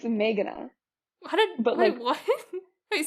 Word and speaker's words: Meghana: It's Meghana. Wait, what? Wait, say it again. The way most people say it is like Meghana. Which is like just all like they're the same.